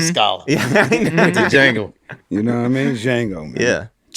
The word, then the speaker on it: Django: Pardon me, Django, the D is silent.